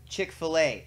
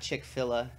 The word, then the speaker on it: Chick-fil-A: most annoying way possible Chick-fil-A see I know how to say it aliens not chick fill although I think I'm